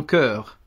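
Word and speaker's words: chœur: Alors, celui-là se prononce un cœur. Un cœur. Donc, ça, voilà, c'est ça. Ça s'écrit CH, H, mais ça se prononce un cœur.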